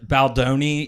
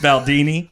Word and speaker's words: Baldoni: Uh Baldoni, he pronounced Baldini also picking that movie.